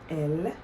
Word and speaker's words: elles: Please don't say ils or elles. The S is silent. Except, we're going to talk more about it, except if you're going to join it with a vowel, then yes, you may pronounce it.